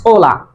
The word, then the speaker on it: hola: There is some words in English but in Spanish this letter name is arche and it will never be pronounced. It is always silent.